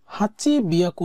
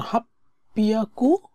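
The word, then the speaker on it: 八百: half পিয়াকু এন দেস হাচি বিয়াকু সাধারণত বলে না হিয়াকুও বলে না এগুলা বলে না তারা হাপ্পিয়াকু সাধারণত বলে এটা হচ্ছে উচ্চারণগত সুবিধার্থে তারা ব্যবহার করে যা জো ইচিবান দোয়োবি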